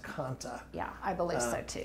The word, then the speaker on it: kantha: one I think it's k-a-n-t-h-a yeah and it's pronounced kanta yeah I believe so too A lot of people will say kantha but I think it's kanta yeah one of my